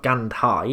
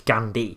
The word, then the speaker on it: Gandhi: and pronounces the hate she's not gandhai is it's gandhi so you bet you